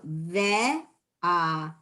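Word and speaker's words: וְאָהַבְתָּ: the vav in ve'ahavta, I am pronouncing the shva under the vav, ve, at the beginning of the word. Why is it in the vet, which is the fourth letter in the word, why am I not pronouncing that shva? I'm saying ve'ahavta, right? I'm not saying ve'ahavta. I'm just saying ve'ahavta. Why is the second shva silent?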